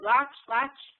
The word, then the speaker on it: Laatsch: a Changing Climate from Laatsch at, am I pronouncing that right? Laatsch? Yep, that's it.